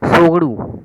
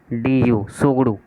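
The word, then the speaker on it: Tshogdu: सोगड़ू, ठीक है, T silent रहेगा इसमें, TSOGDU, सोगड़ू, ठीक है, तो ये है भूटान का, ये इम्पोर्टेंट है, ठीक है।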